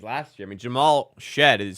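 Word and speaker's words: Shead: I mean, Jamal shed is spelled Sheed.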